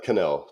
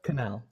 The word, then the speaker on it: Connell: So what's the accurate way to pronounce the name? It's Connell, Connell. Connell.